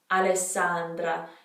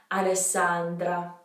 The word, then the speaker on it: Alessandra: the same so alessandra alessandra you want to hold that s a bit alessandra alessandra the next name i